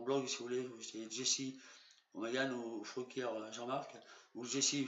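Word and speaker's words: Jessy O'Magahn: 2015, ça fait 4 ans, le 17 janvier 2015 à 23 h par Jesse O'Magan, c'est moi, ça s'écrit J-E-2-S-Y, O''M-A-G-A-H-N, c'est mon pseudonyme et mon nom étant Fruquier Jean-Marc du Cantal.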